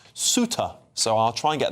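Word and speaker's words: Ceuta: Uh apparently that place is James has said here, James H said it's pronounced Suta.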